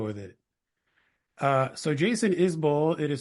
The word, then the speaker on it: Isbell: right let's go with it uh so Jason isol it is spelled isbel but he pronounces it isol I don't think he gets upset if people say isbel though um is a four time Grammy winning